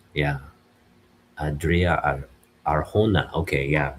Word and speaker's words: Arjona: Adria Arjona, yeah, Adria Arjona. Okay, yeah, we don't pronounce the J.